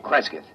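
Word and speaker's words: Cresgyth: C R E S G Y T H Kresith. What's that? Local. Well, that's his phonetic interpretation of the name the people here use.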